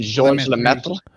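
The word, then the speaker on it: Georges: but his name is it's French it's like George Saint Pierre you don't pronounce the S I mean George anyway yeah French isn't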